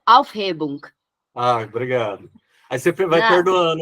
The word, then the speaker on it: Aufhebung: Pronuncia a palavra. É Aufhebung.